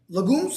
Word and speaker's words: legume: Legumes.